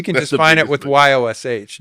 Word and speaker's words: Jaszcz: No, you really you can just find it with Yosh. John Y O S H even though it's spelled J A S Z C Z.